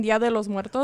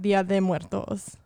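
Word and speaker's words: Día de Muertos: so so this whole time i've been saying dia de los muertos i thought it was los muertos yes but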